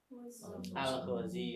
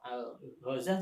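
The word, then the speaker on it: الغزي: Terus al-Ghazi atau al-Ghazah juga ada yang baca al-Ghazah. Gaza, maksudnya Gaza itu loh.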